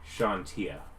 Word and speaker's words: Chauntea: It's Chauntea. That's a Shaw sound. Shantia.